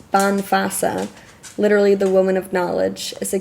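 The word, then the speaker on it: bean feasa: Bean Fisa? Woman's Wisdom. I'll read a little bit from here for you to close it out. Okay. I definitely pronounced it wrong. So, the wise woman, pronounced Banfasa, literally the woman of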